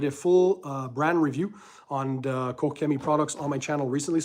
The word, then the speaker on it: Koch Chemie: So my thoughts, a lot of people in the US, I think, call them Coach Chemie. The Germans, I think, correct the pronunciation, is Koch Chemie or Kochemi, one of those two.